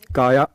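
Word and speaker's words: Kaja: तो इनका नाम है काया, काजा लिखते हैं लेकिन इट्स प्रोनाउंस काया, काया कैलिस है।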